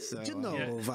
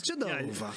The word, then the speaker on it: Genova: Genova. If you can tell. It's Genova.